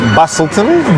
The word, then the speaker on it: Busselton: Actually, it is Busselton, but the way how they say it, Busselton, you know, the ton is coming from town.